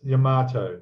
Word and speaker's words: Yamato: I've been hearing about in the modelling community about the new 200 scale, and now it's Yamato. Is that how I pronounce it?